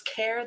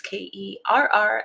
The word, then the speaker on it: Kerr: You can find me across all social platforms at The Real Miss Kerr. That's Kerr. And no, it is not pronounced Kerr.